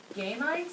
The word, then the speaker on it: gametes: plant fertilization is the union of male and female gametes, I think that's No. how you pronounce it. No. Gametes? Long E's. Yep, gametes.